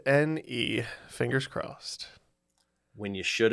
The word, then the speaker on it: en: you should have said n oh no and uh another one of those TW letter Scrabble words you see a bunch it n pronounced as the letter N it's literally the width